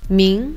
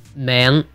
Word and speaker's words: 名: This word, or word component, meaning name, is pronounced in Mandarin as 名 with a rising tone. And in Cantonese, it's 名 with a mid-rising tone.